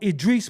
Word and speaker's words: Idris: name is well go with Edris then out my crib Edis you all indignant and nasty because I mispronounced ADR I know Idris Maham I knew a dude in the street